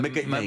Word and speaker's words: Magalhães: Vasco da Gama, comme Magellan, qui se dit... c'est Magellan. qui se dit Magalhães. Magalhães. Magalhães.